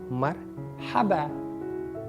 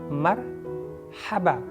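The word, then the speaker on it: مرحبا: So, but correct pronunciation of the word is Marhaba. Try to say with me. Marhaba. Ma with fatha, ra sukun, ha abba. Marhaban.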